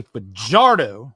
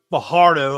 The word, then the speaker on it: Fajardo: I mean, I'll say his name right, Cody Fajardo. There you go. Fajardo, like I was saying for half of the season last year.